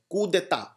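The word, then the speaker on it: coup d'état: very very beautiful word Keta it is called c c it is not pronounced coup but it is pronounced C it is again a French word Keta Keta means when a government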